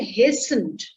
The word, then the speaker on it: hasten: Even if it is N, H-A-S-T-E-N, then also it would be hasten.